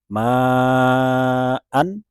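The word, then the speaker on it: معا: harus membacanya dengan prinsip mad iwad. Dalam contoh ini misalnya ma'an, ketika kita wakofan di sana dia bukan menjadi ma, melainkan ma'a. Hamzah dibaca 2 harokat.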